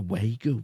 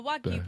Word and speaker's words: wagyu: But I went to Burger King and I'll tell you for yh because they've got a wu burger. A what? A wu. A Wagyu burger.